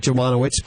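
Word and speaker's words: Dziemianowicz: is spelled janowitz uh sounds like jamano witz but it's spelled d z i e m i a n o w i c z whoa I you know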